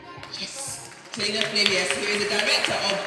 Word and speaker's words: Selina Flavius: Selina Flavius, who is the director of Black Girl Finance.